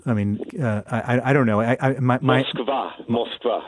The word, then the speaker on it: Moskva: Moskva is the Russian pronunciation.